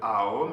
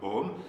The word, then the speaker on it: Aum: Tout est correct, l'essentiel c'est de bien sentir cette syllabe avec le AOM et non pas dans le OM.